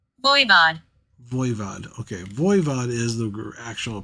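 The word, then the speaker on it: Voivod: I said that right vood Vo VOD okay vood is the actual pronunciation of the group okay number 21 is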